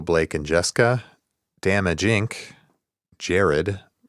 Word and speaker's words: Jared: Damage Inc., Jared, pronounced like the jewelry store, LOL.